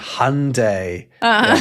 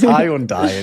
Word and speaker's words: Hyundai: Or um what we talked about before Hyundai with Sunday. Like Sunday. Yeah. Weird cuz it's a high on like everyone says hi on in English.